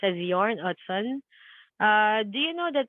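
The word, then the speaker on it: Jørn Utzon: the story about the Sydney Opera House About Yarn otson the architect it's not spelled as yarn it's spelled as Jordan it's pronounced as yarn Hudson uh do you know that this was uh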